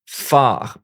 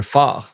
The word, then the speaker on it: phare: The PH, borrowed from Greek, make the F sound in French. So, un phare.